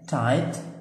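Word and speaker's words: tight: بقية الكلمات تايت والجي اتش ما بتتنطقش، معناها مشدود او ضيق،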